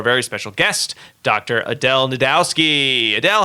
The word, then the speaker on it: Najdowski: I am Adel Najdowski. The J is silent. A lot of people mix that up, so there you go, some clarification on my last name.